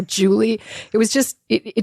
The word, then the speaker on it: Julie: say what's your name I'd be like jwy and they'd be like jewy I'd be no Julie it was just it